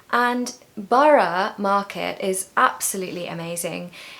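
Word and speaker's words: Borough: So Bara, Bara, 2 syllables. And Bara Market is absolutely amazing.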